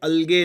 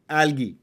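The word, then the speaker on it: algae: called एलगी ठीक है अलगे नहीं एलगी फिर भी आपको एल्गे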